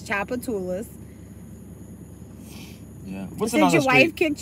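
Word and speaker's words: Tchoupitoulas: gonna just be nice i'm gonna tell you it's choppa tulas yeah did your wife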